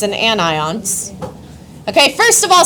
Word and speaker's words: anion: other kind of ion is called an anion.